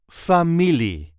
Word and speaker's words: familie: There is a light emphasis on the second syllable. F me. Famili family is everyone that is a close or distant relative.